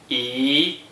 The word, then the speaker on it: 一: When the digit 1 is in the first green circle position, without any other digits, it is pronounced E, E, E is the second tone. Please pronounce it after me. E, E, E.